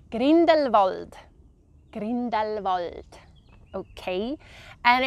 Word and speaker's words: Grindelwald: So this one I would pronounce Grindelwald.